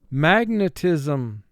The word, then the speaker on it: magnetism: S in the final syllable is representing its second sound, z, so we double underline S.